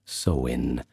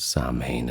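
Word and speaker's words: Samhain: Now finally the year would come full circle to sine which in Irish is pronounced soen but uh we generally know it as sain at least that's how we pronounce in English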